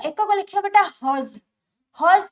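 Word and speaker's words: hertz: होची पूरा ना हो बेटा हज एच ई आर टी जेड टी टा साइलेंट रहबो हज हो यार संकेत सॉरी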